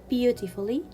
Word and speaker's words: beautifully: tongue guard colleague guess it is also not usually pronounced in adverbs like beautifully wonderfully so i will not pronounce letter u in the adverbs like beautifully and wonderfully i will consider letter u as a silent letter so i will read it beautifully wonderfully and now we will